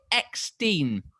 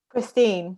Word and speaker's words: Christine: one of the films is it extene is that how you pronounce is that how you pronounce your name christine christine yeah see i just sniped